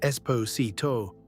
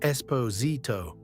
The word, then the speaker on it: Esposito: Not Esposito, but Esposito. The stress comes earlier, and again that S becomes a Z.